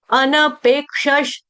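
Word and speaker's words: अनपेक्षः: अनपेक्ष सुचि दक्ष उदासीनो गतव्यथा सर्वारंभ परित्यागी यो भक्त समे प्रिय यो भक्त समे प्रिय अनपेक्षस अनपेक्षस अनपेक्षस अनपेक्षस इसका उच्चारण कैसे आ रहा है अनपेक्षस थोड़ा पकड़ो अनपेक्षस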